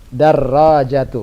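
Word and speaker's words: دَرّاجَةُ: Darajatu mudhaf. Mudhafun ilaih? Anasin. Iya. Jawabannya la hadhihi darajatu Ammarin. Terjem? Bukan. Ini sepedanya Ammar. Nah, lagi-lagi ada idhafah di sini Syekh. Yang mana? Darajatu. Ra-nya ditasydid. Darajatu.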